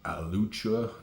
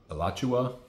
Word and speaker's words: Alachua: I remember when I used to go watch Michael Singer um at his place in uh Alucha Alawatcha. I always say that name wrong. Alachua, Florida. I think that's right.